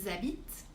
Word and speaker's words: habitent: Par exemple, ils habitent, au singulier, il habite. Ils aiment, au singulier, il aime. Mais on fait vraiment attention à ne pas prononcer ce ENT.